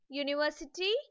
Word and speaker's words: university: Children, in some words such as university, unique, unicycle or user, even though the first alphabet is a vowel, the sound produced is yo, and hence the article a should be used before them.